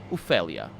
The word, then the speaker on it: Ophelia: It's not Ophelia. It's Ophelia. Actually, yeah, it's pronounced like that, like I just said it.